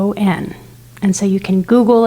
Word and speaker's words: tachyon: Tachyon, it rhymes with wacky, and it's spelled Tachyon.